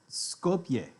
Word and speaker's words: Skopje: how do you say scope J sculpture scope Skopje Skopje okay that's kind of what I thought